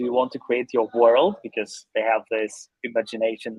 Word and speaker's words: W3rlds: But actually, it's pronounced as like a world.